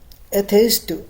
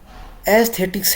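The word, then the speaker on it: aesthetics: एथेइस्ट। एथेइस्ट का मतलब होता है भाई सौंदर्य से रिलेटेड है एथेइस्ट, एथेइस्ट। यार मैं प्रोनाउंसिएशन गलत क्यों कर रहा, मुझे पता नहीं चल रहा। एस्थेटिक्स है भाई, क्या है एस्थेटिक्स, एस्थेटिक,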